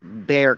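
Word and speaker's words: Bexar: county i live in it's called bear county but due to the way it's spelled i do kind of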